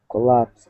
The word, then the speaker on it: collapsed: who are learning English but it's pronounced collapsed kind of like there was a t there it has the t sound so it's collapsed collapsed collapsed collapsed collapsed yeah I